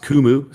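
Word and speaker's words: Qumu: run there Pi symbol Q muu I believe the company's pronounced kumu still running up here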